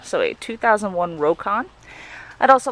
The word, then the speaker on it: Rokon: with a 2001 what I've been told is pronounced rocon so a 2001 rocon I'd also like to invite you to visit